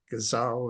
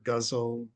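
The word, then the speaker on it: ghazal: It's a gazelle or guzzle. People pronounce it differently.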